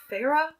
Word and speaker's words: Feyre: now so you know feyre whose name is spelled in incredibly strange for the name farah feyre farah it's kind of weird